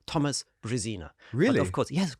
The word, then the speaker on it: Brezina: thomas is nobody and if you want to pronounce it correctly in english it's brazina because you know i live half of the